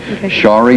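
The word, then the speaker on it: Sharie: to do my best to say it right shie that's perfect that I do them both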